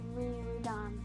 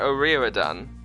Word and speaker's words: O'Riordan: Mine is like Riordan. Is it? So it's Donica what? Donica O'Riordan. That's how it's said. Oh, okay. I thought it was Riordan.